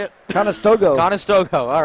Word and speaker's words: Conestoga: bha couple canadians sammy from montreal grant from conestoga ontario they got quebec and ontario battling battle of the provinces in that tonight thank you for pronouncing how do you say it conestoga conestoga all right as they resurfaced the ice